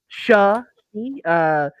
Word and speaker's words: Shushy: It's Shushy, pronounced Shushy. Like shove and she, like the pronoun.